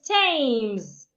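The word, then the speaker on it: Thames: Another is tames. The H is silent and so many other words.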